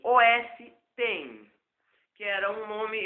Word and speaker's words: OS X: é é rápido o o Mac OS X pronuncia-se os1 que era um nome é sugerido pela Apple